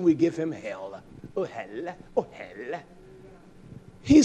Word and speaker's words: ohel: The word congregation is ohel, and we're a hellish mess, isn't it? You spell it that way, O-H-E-L. Ohel, ohel, ohel.